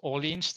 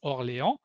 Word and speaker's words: Orléans: And here Orléans, so Orléans in English, but in French it's Orléans.